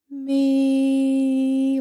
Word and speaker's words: Mi: out loud it is the letter M and the letter I and it's pronounced me with a long e and you have uh